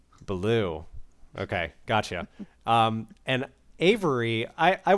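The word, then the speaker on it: Belew: And Cody, I don't know how to pronounce his last name, Bellew? I think it's Baloo, like the bear. Baloo.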